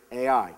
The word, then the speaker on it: Ai: Ai. Pretty simple. Ai. That's how it's spelled. That's how it's pronounced.